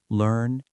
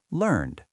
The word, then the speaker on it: learned: Learned as an adjective is pronounced with two syllables, learned. But learned as the past tense of learn is one syllable, learned.